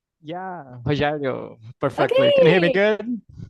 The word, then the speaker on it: Rogério: the chat kind of back and forth okay rerio am I pronouncing your name correctly yeah rerio perfectly can you hear me good all right